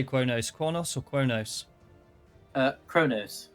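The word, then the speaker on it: Qo'noS: No, I think in the shows it was Kronos. Yeah, I believe it was, yeah. Like, yeah, Quonos, but it's pronounced like KR.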